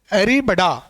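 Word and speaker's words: arribada: ये से कहते हैं एरीबडा। प्रोनाउंस आप कर लेना, मैंने ये स्पेलिंग लिख दी है एरीबडा। एरीबाडा है, बड़ा है, आप देख लेना।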